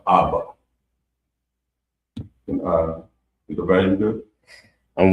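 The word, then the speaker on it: אבא: And it's pronounced Abba.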